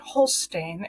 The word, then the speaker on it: Hulstijn: Holstein, and the last name here is spelled Hulstijn. So it's a little odd spelling, but if you want to